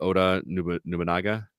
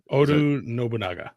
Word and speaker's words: Oda Nobunaga: And so either way, you were taking out these 11 people underneath, how do you pronounce it? Oda Nobunaga? Oda Nobunaga.